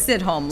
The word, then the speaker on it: Sidhom: Sidhom, like Sidhom. Sydney, Australia, and sitting at home.